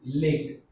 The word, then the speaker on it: lake: Okay, so the lake, L-A, lay, and K-E, curve. Just like here E is silent, T-E, ter, and K-E, curve. So that is how we pronounce lake.